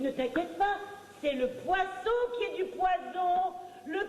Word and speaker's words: poisson: It's all in the spelling and the pronunciation. Poisson, 2 S's, fish. Poison, 1 S, poison.